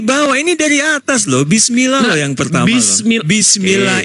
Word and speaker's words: bismillah: Bacanya bismillah buk bukan bisim Allah.